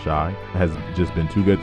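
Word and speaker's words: Shai: possibly could but but Shea even though he says pronounced shy has just been too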